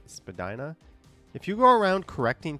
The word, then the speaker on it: Spadina: Spadina, pronounced Spadina, not Spadina. No, that one has been debunked. Spadina is a perfectly acceptable pronunciation.